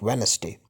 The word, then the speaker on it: Wednesday: four in these words D is silent here Wednesday so we don't speak Wednesday we speak Wednesday and then again sandwich